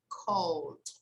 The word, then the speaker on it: called: all right people so remember that here we don't pronounce the vowel okay so here this verb we say cold they called okay they called charles babbage the father